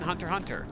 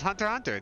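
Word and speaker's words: Hunter × Hunter: Yeah, man, it's Hunter x Hunter. The X is silent, like in my favorite comic book, Uncanny Men.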